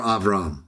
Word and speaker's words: Abraham: Sometimes in English we say Abraham. It's just the way it comes out. But yes, I know how to pronounce it. Abraham. I still will say Abraham. Sometime later, or Avram, if that's the context.